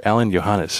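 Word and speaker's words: Alain Johannes: And you worked with a rather magnificent producer, Alan Johannes. Am I pronouncing that correctly?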